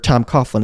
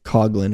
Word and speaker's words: Coughlin: Tom Coughlin is how they pronounce it on TV. I say Coughlin, or my family does.